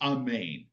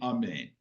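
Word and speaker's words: אָמֵן: know so I mean proper it is amain okay but most of us grew up saying amain but I notice I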